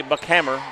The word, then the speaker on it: Buckhammer: Buckhammer, not Heimer.